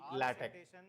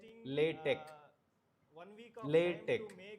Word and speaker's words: LaTeX: goes since none of them has beat the latex. Okay. One thing is we should not pronounce it as a latex or latex. It's a latex latte.